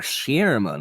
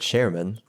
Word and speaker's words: Shearman: Oh, is it Sherman or Shearman? Oh, I just said Sherman. Sheer. It's spelt sheer. Yes. Because there's an A.